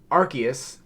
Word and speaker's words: Arceus: today we are playing more Pokemon Legends Arceus Arceus Arceus I have to say it right otherwise I'll get um uh flamed by the Pokemon's fans Arceus for the Nintendo switch I am in I